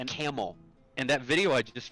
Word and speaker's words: Campbell: grew up that uh is spelled c a m p b l l but if you ask any of the people who are from that town how it's pronounced right that's what I think that's what I think it is cuz I cuz I was told it is bouet I'm sorry they say camel and that video I